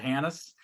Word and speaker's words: Hanus: I said Hanus, but someone said the H is silent. Well, I spent 9 years in the military, so the H was definitely silent for 9 years.